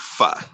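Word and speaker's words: phở: I Love Pho. It looks like it says pho, but in Vietnamese it's pronounced pho.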